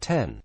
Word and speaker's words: iPhone X: Cook unveiled the much-anticipated iPhone X pronounced - 10 Cook said were not